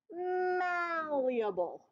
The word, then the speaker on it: malleable: going to spell the word Maul like going to the mall okay and then you're going to put e and then able so M Eble m e able m e able except for we pronounce it malleable and let's imagine that